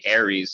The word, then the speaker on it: Ares: Ares sounds like the word air.